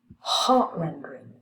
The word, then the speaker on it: heart rendering: Okay, and here they put a primary stress on heart.